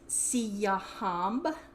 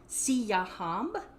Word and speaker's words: Siyahamba: So the Zulu is Siyahamba. So repeat that. Siyahamba.